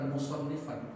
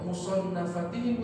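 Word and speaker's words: مصنفاتهم: Jadi bacanya bukan musannifan. Dibacanya isim maf'ul sama mereka. Kenapa kok musannafatihim Ustaz? Musannafatihim. Iya tadi dia jadi mudhaf ilaih. Kalau dibaca musannifat yang mengarang, kalau musannaf yang dikarang.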